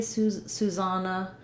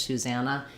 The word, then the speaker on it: Susanna: and no susanna um other places they might say susana typically for american english susanna anytime you're talking about